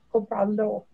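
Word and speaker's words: Cómpralo: And all would have accents on the first syllable, right?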